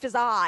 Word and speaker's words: Fizaa: But it's not pronounced Fizaa. It's not pronounced Fizaa, it's just pronounced Fizaa. One of the A's is silent.